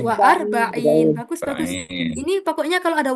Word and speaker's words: وأربعين: Wa arba'in apa warbaun teman-teman? وأربعين Bagus. Wa arba'in.